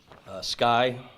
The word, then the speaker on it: SCCY: I guess it's pronounced Sky, SCCY.